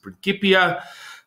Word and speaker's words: Principia Scientific: it's principia scientific uh some people might pronounce it principia or principia i pronounce it principia um and what else